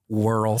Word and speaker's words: W. Earl: It's actually pronounced Whirl.